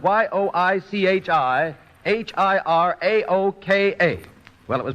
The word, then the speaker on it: Yoichi Hiraoka: Well, one of the names in the tests was spelled Yoichi Hiraoka. It was spelled Yoichi-Hiraoka. Well, it was pronounced by many taking that announcer's test as Yoichi Hirokawa or Yoichi Hiroike, and a great many other variations, all of